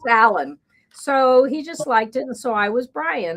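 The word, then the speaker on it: Allyn: Uh, and so yeah, isn't that her name was Allan, but her name was Allan spelled Al L YN. It was a combination of her parents' names, Alexander and Evelyn, but pronounced Allan, so he just liked it and so I was Brian.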